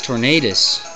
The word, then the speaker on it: Tornadus: but the famous famous Tornadus it almost Rhymes that's how good he is his name rhymes with famous anyway his dig does